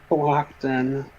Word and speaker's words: Cohocton: I always wonder what that name, how you pronounce that name, Cohocton. Yeah, Cohocton is how, well, in Wayland, there was a pretty sad thing that happened on the railroad.